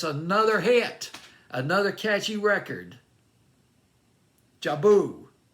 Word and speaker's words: Jubel: hit another catchy record jabu i believe it's how you pronounce it with dumb fantasy playlist may 8 2022.